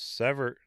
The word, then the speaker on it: Sevier: come to court site dave goes pronounce sever sevierville okay thank you criminal carmen